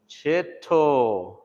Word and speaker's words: Chito: Why do we turn our T's into D's? That's because it's the relaxing of our tongue when we're trying to speak in English.